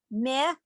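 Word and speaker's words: מְלָכִים: Melachim. Is it supposed to be May or Meh? It's meh, more like the I in it.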